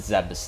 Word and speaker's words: Zebes: space pirates are zabezians because they're from zebes or za zeebs or however it's pronounced um they pronounce it zebus in this game though um but then in other